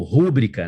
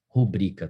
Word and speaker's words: rubrica: sílaba tônica né então se eu tenho lá uma palavra que é paroxítona eu não posso pronuncia-la como proparoxítona de quem que eu tô falando especificamente de rubrica por exemplo né a